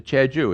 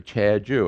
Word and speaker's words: Jeju: ticket to che ju here's what you do you write a chad ju and i'll write it down for you chad joo and they write it down in english for you and the korean writes down j-e-j-u it's the same darn